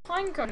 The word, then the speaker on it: Pineco: how to pronounce it I just feel like calling it pine cone even though it's not how it's called it's uh it's pineco pineco yeah that's it I believe I hope otherwise